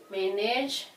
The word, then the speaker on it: manage: think you will manage manage men and age anytime you come across the word manage you just know you supposed to stress uh the first syllable the first syllable for the word manage and if you have the